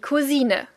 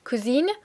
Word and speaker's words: Cousine: spell it like one, we do not pronounce it the exact same way. We do pronounce the final E. So we don't say cousine, but we say cousine.